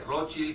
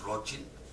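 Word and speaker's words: Rothschild: otros dic los Rocher ustedes lo pronuncian como quiera pero se puede decir las dos maneras que sabe francés dice rochil que sabe alemán porque viene del alemán es rochil es el escudo rojo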